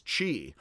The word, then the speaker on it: qi: changed that such that now the CH sound is not just dropping the apostrophe, but a Q. So many are familiar with the Chinese concept of energy as qi. That is spelled QI now. That's weird.